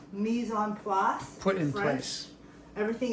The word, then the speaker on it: mise en place: Mise en place. Mise en place.